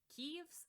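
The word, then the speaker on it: Keves: He's also wearing black, putting him on the side of Keeves, I believe is how it's pronounced, the country which uses mechanical-based weapons like mechs.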